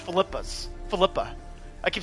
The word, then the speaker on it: Philippa: I keep saying Philippa. Philippa's. It's pronounced Philippa's.